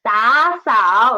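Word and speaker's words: 打扫: And there are two third tones, so we should change the former one into second tone. So it's 打扫.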